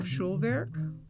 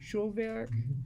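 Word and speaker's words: Schulwerk: time and one of them was called or schulberg could you spell that for me and then hyphen schwerk it's german for school work it's s-c-h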